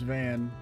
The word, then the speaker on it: Van: My name's Van. Rhymes with plan, because that's what I always got.